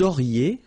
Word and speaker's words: auriez: Vous auriez, liaison here, and then EZ will go like E.